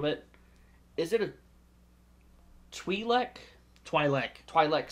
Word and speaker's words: Twi'lek: Twi'lek. Sorry, I hear him called Tweez, and so I thought that's how it's pronounced.